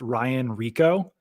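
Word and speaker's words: Rehkow: The Bengals punter, by the way, I guess his name is pronounced Ryan Rico.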